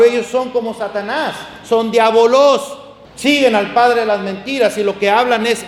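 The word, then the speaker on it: διάβολος: Diabolos.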